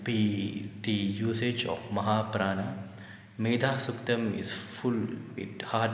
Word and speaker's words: Medha: So wherever there's D-H-A, B-H-A, you make sure that when you pronounce it as an exhalation with a force in there, like Bha, Dha, and not just Da, that would be an Alpa Prana, soft consonant.